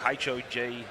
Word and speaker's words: Hog: You know, the hog would rhyme with Fogus, so I'm assuming maybe the hog. Is that correct? Yeah, the Hulk, H-O-G. H-O-G, it's the hog.